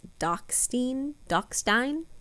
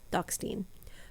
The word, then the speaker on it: Dachstein: insulating layer will be i believe it's pronounced doxtech stein dachstein four ply boiled wool mittens